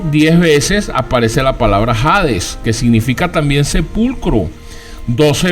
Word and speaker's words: Hades: cuando en la Biblia aparece jades que se escribe con h Hades soy en hebreo la